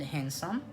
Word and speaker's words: handsome: So I remember I made the difference between these two words, beautiful and handsome. Okay, it's not the it's handsome. The D is silent.